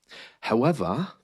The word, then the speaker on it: however: However, notice the R again is missing there at the end of however.